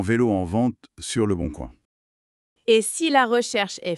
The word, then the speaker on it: Le Boncoin: Et pour trouver cette perle rare d'occasion, on peut demander tu as regardé sur le Boncoin ? Ah, le Boncoin. On prononce tuas regardé sur le Bon Coin.